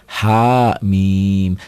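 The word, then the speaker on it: حم: Ha, bukan hamim, hama, bukan. Dieja. Ha mim dieja, panjangnya tergantung tandanya.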